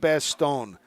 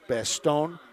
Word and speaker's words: Bastogne: Bastogne, if you pronounce it by the French pronunciation, you have to add the ya at the end of it.